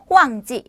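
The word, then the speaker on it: 旺季: 자, 성수기 발음 한번 가실게요. 호황지, 성수기는 호황지.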